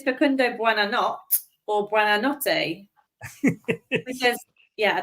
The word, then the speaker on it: Facundo Buonanotte: It's Facundo Buonanotte. Hey, do you want to have a go, Kate? That's your quiz question as well. Well, yeah, I don't know if it's Facundo Buonanotte or Buonanotte.